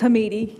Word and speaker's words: Hamidi: I've never known how to pronounce it. It's Hamidi, but I respond to, hi.